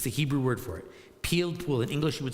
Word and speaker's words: pilpul: We call it pilpul, is the Hebrew word for it. Pilpul. In English, you would spell it, I guess, P-I-L-P-U-L, pilpul.